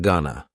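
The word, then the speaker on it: gonna: contraction just like Wana Ghana is generally pronounced with the schah gag Gana you going to ask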